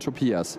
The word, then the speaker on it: Topias: It's Tobias and Topias. Yes. Yeah. No, we could just be like accurate with our consonant pronunciation. It's similar, but not the same.